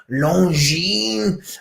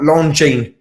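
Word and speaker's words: Longines: it a different way whenever i say longine i imagine i'm french longine or maybe swiss obviously because it's swiss longine not longing do i mean i will probably say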